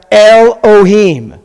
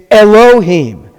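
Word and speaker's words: אלהים: So you read this word Elohim. It's not pronounced Elohim. It's Elohim. So Elohim is the Hebrew word for God.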